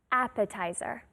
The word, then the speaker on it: appetizer: English do you know appetizer that emphasis on the first syllable appetizer appetizers are very